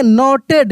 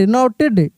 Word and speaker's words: knotted: नोटेड, नोटेड, नोटेड, ठीक है।